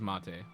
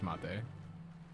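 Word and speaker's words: maté: I always thought that had like an accent on the E. Unless there is like a mate T I'm not aware of. I'm pretty sure that's mate.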